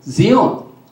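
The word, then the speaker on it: scion: 그런데 이 Sion을 발음을 Zion, 시온이라고 합니다.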